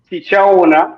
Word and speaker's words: Tichaona: So it's pronounced TICHAONA, but you can call me Tich.